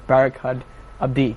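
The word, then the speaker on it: Barkhad Abdi: And now I had I have really huge problem pronouncing names of actors, and you said it was Barakat Abdi.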